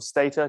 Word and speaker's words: Stata: So you've got Stata or Stata, depending on how you say it, MATLAB, R,